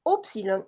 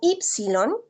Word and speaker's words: upsilon: lleva upsilon o ypsilon, hay diferentes formas de pronunciar esta letra, upsilon o ypsilon se le puede decir. Para no confundirlo con la iota, usualmente yo prefiero pronunciarla como upsilon, para no confundir estas dos vocales en el griego.